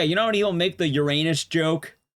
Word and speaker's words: Uranus: Yes, cuz I pronounce is actually pronounced Uranus. You don't have to pronounce it your anus, but obviously, you know, it happens enough times.